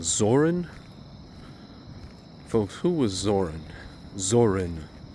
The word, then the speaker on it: Zorin: Zorin, not Zoran, but Zorin. Valentin Zorin. I'll pronounce it correctly.